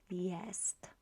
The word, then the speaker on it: jest: so it is to yes notice that we pronounce ye sorry j as ye and it always will be the case so um let's look